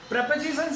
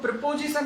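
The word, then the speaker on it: preposition: Noun या दो subject प्रेपोजिशन से जुड़ते हैं, दोस्तों वो प्रिपोजिशन नहीं है, प्रेपोजिशन, करेक्ट कर लीजिएगा अपना प्रोनाउंसिएशन, प्रिपोजिशन नहीं है वो, प्रेपोजिशन।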